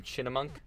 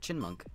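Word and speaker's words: Chyinmunk: pronounce this guy's name chinna monk no it's just chin monk it's like chipmunk butt chin monk chin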